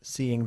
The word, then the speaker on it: seeing: Hay seeing as, seeing that, incluso seeing. Ok, lo importante, curiosamente, es la pronunciación. No decimos seeing, sino seeing. Seeing. Seeing. Seeing. Seeing. Seeing, ¿ves? Que hay casi una Y ahí en medio.